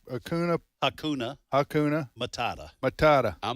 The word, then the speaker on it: Hakuna: can't pronounce it myself Akuna it's Hakuna Hakuna Hakuna Matata Matata